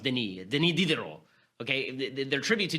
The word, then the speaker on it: Denis: How would they pay tribute to, I'm going to call him Dennis because I'm American, but I guess it's pronounced Denis Diderot.